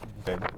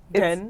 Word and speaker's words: then: It's Then. then. No, you pronounce it wrong. You can't say TH. What? How do you say it? Then? Den, like a den that you sleep in.